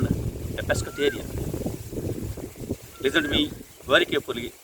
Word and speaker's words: pescatarian: Yes, you are called a pescatarian.